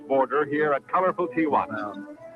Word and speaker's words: Tijuana: There is no A. It's not Tana. Really? I did not know that. I see it spelled. Yeah. Tijuana. It's crazy how I would I've always heard it pronounced Tijana.